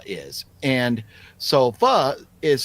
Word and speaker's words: pho: Uh, but anyways, so I just wonder if anybody watching knows what fu is. And so fu is spelled pho. Looks like fo, but it's pronounced fu.